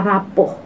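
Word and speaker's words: rapport: ketiga pilar yang ketiga ini rapuh tulisannya raport ya Tapi bacanya rapuh rapuh itu apa rapuh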